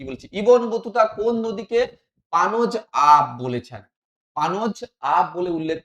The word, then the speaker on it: পাঞ্জাব: Ibn Battuta কোন নদীকে পানজ আব বলেছেন? পানজ আব থেকে দেখো একটু ভালোভাবে উচ্চারণ করলে কি মনে হবে? পাঞ্জাব। পানজ আব, পাঞ্জাব।